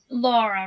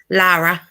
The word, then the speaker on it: Lara: Laura, right? Lara. Is it Laura or Lara? Lara. Lara. There's no U, yeah.